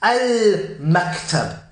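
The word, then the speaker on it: المكتب: That's why you can pronounce the lam. Al-maktab. Yeah? The mean being on the lips, yeah?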